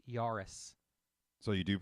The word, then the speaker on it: Jahres: des jahres yes it's Yaris so you do pronounce this the J is pronounced as a y in German she something Joris she's